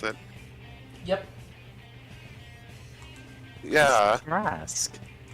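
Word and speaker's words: Tarrasque: Wait, is this the ter uh your the terraque that great I don't remember how to pronounce it. Yep. Yeah. Terrasque. Terrasque.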